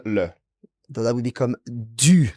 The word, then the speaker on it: du: So that would become du. Now watch the pronunciation. Du. Du. And it's spelled D-U, du. So de and le merge into a new word.